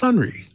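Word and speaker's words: Sonrai: it's spelled s-o-n-r-a-i security dot com but it's pronounced sunri thank you very much to our guest and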